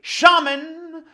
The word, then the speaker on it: shaman: I prefer to say shaman to rhyme with ramen.